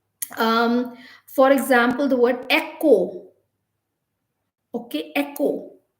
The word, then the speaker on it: echo: for example the word echo okay echo echo is not e c k o or e k o this e e-c-h-o echo so the h is silent so similarly a lot